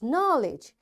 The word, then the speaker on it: knowledge: K is silent when it comes before N.